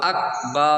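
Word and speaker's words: أكبر: আ গ আগ বকার রবার আকবার এটা ক্রস অর্থাৎ আকবার কফ কাফের জায়গায় ক এর স্থলে গ অক্ষর যদি আসে তাহলে আপনার নামাজ বাতিল হয়ে যাবে হামজা কাফ জবর আকবার র জবর বার আকবার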